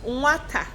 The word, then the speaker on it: nwata: How many syllables do we have in nwata? Can we clap it out? Nwata. Ọzọ, nwata. Ụda ole ka ị nụrụ na nwata? Ụda abụọ. Ụda ole. How many syllables?